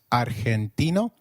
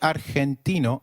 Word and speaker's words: argentino: Did you notice that Argentino is pronounced as Argentino? In Spanish, G, when followed by E or I, is pronounced like a throaty H. So try saying Argentino again. Argentino.